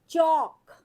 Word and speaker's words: chalk: CHALK, चौक। इसमें L silent है, चौक।